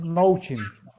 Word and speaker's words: Noaching: Noaching, Noachin es, mm, pues lo pronunciamos Nouchin.